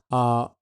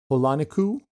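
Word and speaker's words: Hōlanikū: The oldest Hawaiian island that's still above water is called Holanuku. I hope I'm saying that right. Holaniku, I believe is how you say it.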